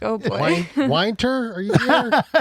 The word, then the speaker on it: Wynter: I kind of like Winter. Winter is fine. Like, I kind of like Winter, and that to me sounds like the proper way for a name, Winter.